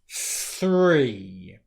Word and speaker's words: three: So the first word will be three, three, three.